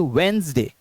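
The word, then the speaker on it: Wednesday: वेडनेसडे Monday ट्यूसडे वेडनेसडे तो वेडनेसडे के अंदर डी और नेस साइलेंट है तो कैसे पढ़ेंगे वेडनेसडे वेडनेसडे ना कि वेडनेसडे सही वर्ड वेडनेसडे ठीक दूसरा देखते हैं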